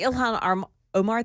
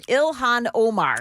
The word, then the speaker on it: Ilhan Omar: So, the Ilhan Armar thing. I can't ever say her name. Ilhan Omar.